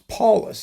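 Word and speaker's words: Paulus: I did not a lot but but sort of this is the the German you know it's in German it's Paulless and it's it's it's his sort of you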